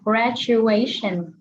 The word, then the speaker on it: graduation: Giống như là cái từ mà tốt nghiệp á, con đọc là graduation, đúng không?